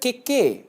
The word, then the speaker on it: kekē: For example the word keke without tohutō means cake, the word kekē with a tohutō on the second ‘e’ means to creak.